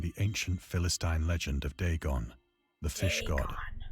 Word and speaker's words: Dagon: Once I sought out a celebrated ethnologist and amused him with peculiar questions regarding the ancient Philistine legend of Dagon, the fish god. Dagon, that's how you say it.